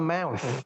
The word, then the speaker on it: mouth: Kalau mulut itu bacanya adalah mouth.